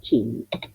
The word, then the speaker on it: cinto: Otra vez el mismo fonema ch, nuestra CH, que así como nosotros necesitamos una C y una H para pronunciar así, ch, el italiano no, con la C le basta y sobra, pero la fonética tiene